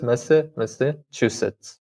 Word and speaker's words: Massachusetts: Yeah, there's a secondary stress, Massachusetts, but placing more stress on the second syllable, Massachusetts.